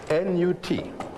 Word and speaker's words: Nut: How do you spell that? N-U-T. Pronounced Nut. Some people write it N-O-U-T.